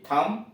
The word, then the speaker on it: thumb: कॉम कंघा, COMB कॉम कंघा, LAMB lamp मेमना, THUMB थम अंगूठा। सी साइलेंट है, SCENT सेंट इत्र, SCIENC साइंस विज्ञान, सीन SCENE सीन दृश्य।